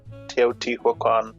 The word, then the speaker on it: Teotihuacan: Whichever civilization it was, the Olmecs or whoever that built Teotihuacan, is that how you say it?